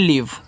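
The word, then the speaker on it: leave: ऑल इ ए वी इसको बोलते हैं लीव तो एल से आपका ला देखो एल इ है तो बड़ी ई की मात्रा वी से आपका व लास्ट में इ का उच्चारण होता नहीं तो लीव का मतलब होता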